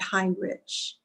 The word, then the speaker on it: Heinrich: heinrich you think it you'd think it would be heinrich uh you know h-e-i-n-r-i-c-h but he does he pronounces it hind rich okay so it said